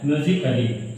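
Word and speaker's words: musically: एल और वाई आए तो यानी आपको ए साइलेंट कर देना है। इसको आपको ध्यान रखना है। जैसा मैंने ये देखिए लिखा है म्यूजिकली, समझ गए।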